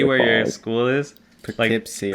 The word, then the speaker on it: Poughkeepsie: Because it's spelled to me. weird, too. Has, like, the Yeah, GH going on. Yeah, it's Sus. like, imagine like Po, like spelled, and then keep C. Like Keep.